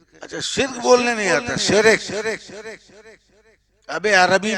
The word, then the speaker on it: शिर्क: और शिर्क है, शिरक नहीं। दोनों के स्पेलिंग में अलग अलग लिखो।